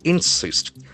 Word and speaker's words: insist: Can't insist. I n s i s t. So that is a beautiful verb. Insist. So here the accent actually falls on the second syllable.